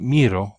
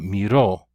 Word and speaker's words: miró: This also should have a written accent on the O. Miró, not miro, but miró.